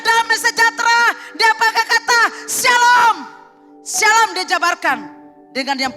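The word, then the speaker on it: שלום: Jadi shalom yang betul dia tidak pakai SY. Dan saya bilang sekali, shalom itu pakai SHLOOM. Dia saya pakai O3. Dia ada tanda-tanda bacanya. Jangan sabarlah bala pakai SY.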